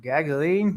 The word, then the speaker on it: Gaglione: Gaglione.